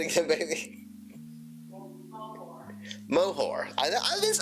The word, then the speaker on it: Moher: Moher.